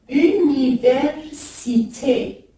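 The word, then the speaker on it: üniversite: C'est le R roulé. Université.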